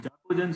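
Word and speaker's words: chalcogen: So chacogens is very less known in this series. Where oxygen, sulfur, selenium, tellurium, all of them are chacogens, but it is written as CaHalCO, but it is pronounced as chacogen.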